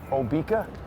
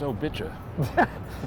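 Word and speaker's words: Obicà: Obika? No, I think this is Hillary Clinton's. do you mean? It's pronounced Obicha.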